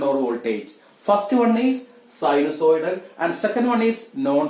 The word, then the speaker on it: sinusoidal: Correct pronunciation sinusoidal എന്നാണ്, sinusoidal എന്ന് അല്ല.